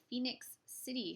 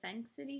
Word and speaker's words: Phenix City: the Phenix City story, which is a film I have been mispronouncing for a very long time because for some reason I never saw the I in the word, so I kept thinking it was the Phenix City story.